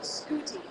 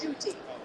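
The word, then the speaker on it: Ncuti: And we were told Scooty. And we're like, no, it's Shooty.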